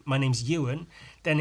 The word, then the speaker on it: Ewan: an e of course the name pronounced u and starts with an e why wouldn't you think